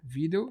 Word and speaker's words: vídeo: Cara, vídeo se separa assim, vídeo. A sílaba tônica é o vídeo, é vi, é paroxítona.